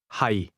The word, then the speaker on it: 係: 係。 Notice the low, level tone in the word am or to be.